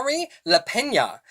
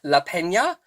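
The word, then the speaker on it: Lapena: this book the couple Next Door by Shah Leena so yeah very interestingly um in my uh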